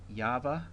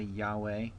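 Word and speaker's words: יהוה: Next we have Yahweh or Yahweh. I would say Yahweh.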